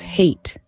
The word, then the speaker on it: hate: Take the word hat. It's a simple one-syllable word, but if we add an E at the end, it becomes hate. The pronunciation changes entirely, and so does the meaning.